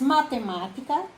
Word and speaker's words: matemática: Então, eu coloco aqui algumas palavras: matemática, cansaço e pardal. Matemática, a sílaba tônica é má, porque tem acento, está acentuada.